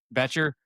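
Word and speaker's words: Bryce Boettcher: Betcher. Yep. Betcher.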